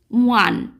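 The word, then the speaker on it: one: আগেরটাতে উচ্চারণ হয়েছিল ওল্ড, অর্থাৎ ভাওয়েলটা কিন্তু ভাওয়েলের মতোই উচ্চারণ হচ্ছিল, কিন্তু এখানে ওটা উচ্চারণ হচ্ছে ওয়ান।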